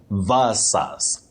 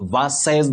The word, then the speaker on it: versus: compared to something you say versus not verses that we commonly hear around us.